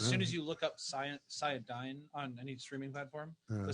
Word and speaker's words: Cyadine: It's pronounced Cyadine. It's not even a word.